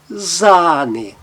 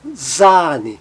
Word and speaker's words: Sahne: Agora, quando o A vier seguido de uma consoante, somente uma consoante, ou com o H, ele tem um som longo, como em zane, zane. E está representado aí com os dois pontinhos na sua transcrição fonética.